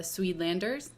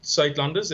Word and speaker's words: Suidlanders: largest civil defense organization in the world, the Suidlanders. Is that how you pronounce it, Simon? Suidlanders, but it's Suidlanders.